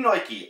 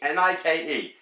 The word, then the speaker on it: Nike: I'm saying Nike, N-I-K-E, not Nike, N-O-I-K-E.